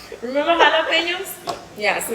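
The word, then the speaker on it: jalapeño: letters for instance in in spanish j is pronounced as a her instead of a gel right like like jalapenos remember jalapenos yeah so it's called g-a-j-g-m-yes and most people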